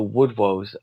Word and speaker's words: Wodewose: Well, it's actually called the Woodwoes. So you could spell it Wodewose, Woodwoes, which is in our ancient